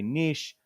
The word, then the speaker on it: niche: And some of you like to say niche. That's fine. I still say niche. I know I'm saying it wrong.